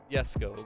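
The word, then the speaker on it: Jesko: again the show off the jessico or the esco however you like to say it is correctly pronunciated as yes go but will you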